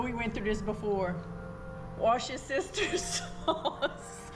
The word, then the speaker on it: Worcestershire: Wash your sister's sauce. Worcestershire. That's what somebody told us how to pronounce it, right?